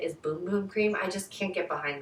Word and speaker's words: Boom Boom Cream: I keep saying Bum Bum Cream, but I know that the correct way to say it is Boom Boom Cream.